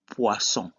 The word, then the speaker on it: poisson: An example is the word poisson. In this case, OI is pronounced wa.